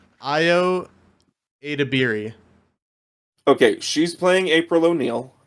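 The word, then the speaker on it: Ayo Edebiri: like that so Jace that that name is pronounced IO adabi okay she's playing April O'Neal ioa deiri Rose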